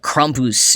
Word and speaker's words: Krampus: increasingly in recent years: Krampus. Or Krampus, if I were to pronounce it slightly more correctly.